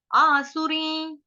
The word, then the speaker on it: आसुरीं: आसुरी शब्द जो है ये भी आसान है, आसुरी अनुस्वार का उच्चारण होगा य के ऊपर आधा, ये आधा य ऊपर चंद्र बिंदु य। आसुरी, आसुरी योनिमा पन्ना, यहां तक क्लियर।